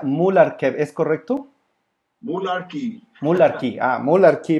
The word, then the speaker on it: Mularkey: Muy bien, pues Desmond, y se pronuncia Mularkey, ¿es correcto?